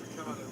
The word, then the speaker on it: Ricciardo: Daniel Ricciardo, who I did ask when he first came to the Formula One, how do you pronounce his surname? He said Ricciardo.